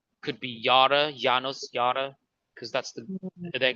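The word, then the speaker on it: Janus: It's J, but it's pronounced like a Y. Correct. Yanos.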